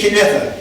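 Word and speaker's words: Cunedda: But Cineva, C-U-N-E-double-D-A, Cineva, it's pronounced, which does sound a mark like King Arthur, if you say it quickly to an England Saxon.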